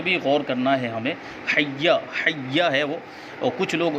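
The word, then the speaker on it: حيّ: مد بھی نہیں ہے۔ حی، ہا یا زبر حی، یا زبر یا، حی، یہ اس کا تلفظ ہے۔ حی علی الصلاۃ، تو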